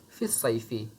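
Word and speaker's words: في الصيفي: यहाँ पर लिखा है फिल सैफ़ी, लेकिन इसे पढ़ेंगे फिस सैफ़ी क्योंकि साद हुरूफ़ शमसिया में से है। اور حروف شمسیہ سے شروع ہونے والے ورڈ پر اگر الف لام داخل ہو تو اس میں لام کا تلفظ نہیں ہوتا ہے، یعنی کہ لام نہیں پڑھا جاتا ہے.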